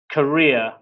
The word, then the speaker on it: career: And our next word is career. Career, which is what the whole topic is about. This is pronounced the same as the country Korea, but it's completely different meaning and spelling, obviously.